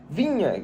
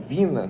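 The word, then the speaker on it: Viña: vamos começar falando do Matias vinha jogador ou Vina como você quiser pronunciar muita gente pronuncia dessas duas formas um jogador uruguaio de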